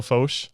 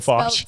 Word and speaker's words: Foch: before is it bad no that was perfect people pronounce it I've listened to your speaker I get sworn out a lot Fox it's about f-o-c-h so and actually like